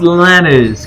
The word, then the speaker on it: Lanners: It's given back to Canners. Now inside with Clark. Running the post. A nice drop-down pass and assist. Zach Canners, the nifty left hand. Yes, I think it's pronounced Lanners, Connor.